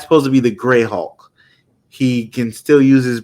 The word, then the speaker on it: Hulk: say Hawk Hulk wrong I always say haulk like Hawkeye and I'm instead of pronouncing the L Hulk um so there's a